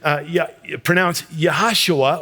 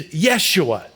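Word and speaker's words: יהושע: In the Hebrew, it's actually pronounced Yahashua, or another way to say it is Yeshua.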